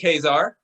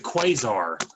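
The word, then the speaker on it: Ka-Zar: the question okay wait did you say it wrong no i said kazaar oh okay not i thought you said quasar no sir i'm sorry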